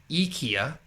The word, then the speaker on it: IKEA: Which is actually, so Swedish, it's pronounced as IKEA.